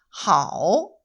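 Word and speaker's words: 好: 중국어 발음으로는 하오, 하오, 네, 이렇게 있습니다.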